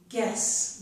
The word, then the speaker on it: guess: Please remember that I said when GU at the beginning of a word is followed by another vowel, the U is usually silent. So this is guess, we don't hear the U. But the G does make a G sound.